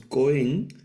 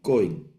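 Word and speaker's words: כהן: en hebreo se leeen es una palabra coen el acento en la primera sílaba no en la última no leemos coen sino coen coen y luego coena eh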